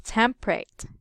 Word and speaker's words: temperate: pal as temperate but those Native American speaker read it us tempt Tam temperate temperate only two syllables there in it as temperate okay yes so you